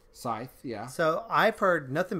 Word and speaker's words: Scythe: So Scythe, I think it's pronounced Scythe. Scythe, yeah.